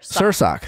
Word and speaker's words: Sursok: guys we have Taman super shock sir sir sock that's how she instructed us how to say her name performers of Pretty Little